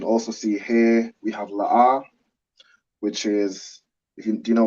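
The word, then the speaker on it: לא: see here we have la'ah, which is, do you know what la'ah means? No. No? Correct. La'ah means no. So the 2 characters we have are la and ah, and they're both pronounced separately.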